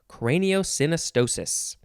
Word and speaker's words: craniosynostosis: is that next is craniosynostosis is that how you say it synostosis yes this is all one word craniosynostosis lots of s sounds maybe this would be